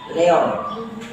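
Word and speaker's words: Léon: Leon, bukan Leo.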